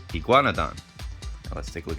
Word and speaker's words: iguanodon: course, or it can sound like I, but here it's E. Gua, igua, G-U-A, gua, N-O, no, D-O-N, don, iguanodon, iguanodon.